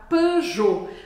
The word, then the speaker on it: Peugeot: então a marca pejot a gente percebe então que o som e pode ser escrito só a letra e em francês sem acento ou então e com u é o mesmo som e p e aqui na marca pe a gente não vai falar o t no final vamos sair da marca